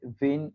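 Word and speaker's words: Wien: তো প্রথমে হচ্ছে যিনি এটার একটা সূত্র দেন উনি হচ্ছে ডাব্লিউ দিয়ে হচ্ছে জার্মান ভাষায় ভি উচ্চারণ করা হয়, উনি হচ্ছে ভেন ডিস্ট্রিবিউশন ল।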